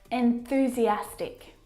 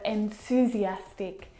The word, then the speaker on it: enthusiastic: he had a stomachache enthusiastic not enthusiastic or enthusiastic but enthusiastic you have to work harder